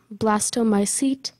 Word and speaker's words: blastomycete: Blastomycete. Am I pronouncing it correctly? Blastomycete?